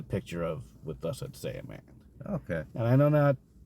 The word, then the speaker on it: Saiyaman: he called him Cyberman. Cyberman! No, it was Saiyaman.